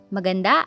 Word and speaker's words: maganda: Next, maganda. Guwapo. Maganda, stress on da, while guwapo on the first syllable.